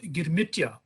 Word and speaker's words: girmit: them we heard about girmitya uh coming from the word agreements pronounced by the bose buddhist girmit but what is unique